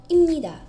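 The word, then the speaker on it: 입니다: Wymawia się go jako imnida. Dopiero tutaj zazwyczaj ludzie poznają zasadę nasalizacji, ponieważ zastanawiają się, czemu wymawia się M zamiast P.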